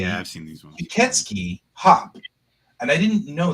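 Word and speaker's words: 吸血鬼: It's pronounced Kuketsuki in Japanese.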